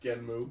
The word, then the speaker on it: Genm: Yeah, so we saw on like some card releases that it actually is spelled G-E-N-M, but it's obviously still pronounced Genmu. Genmu.